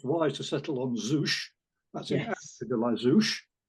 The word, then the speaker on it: Zouch: He's actually spelt Z-O-U-C-H, so there's a bit of choice about how you might pronounce. The most obvious thing might be Zouch, which is what my word processor would do if it knew there was such a word. I tend to put in couch quite often.